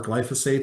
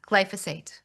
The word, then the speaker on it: glyphosate: Why do we need an executive order to have more glyphosate?